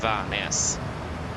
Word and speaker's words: Værnes: The correct pronunciation, okay, so that will be Oslo and Trondheim. But that's for the name. If you want the airport name, that will be Gardermoen and Værnes.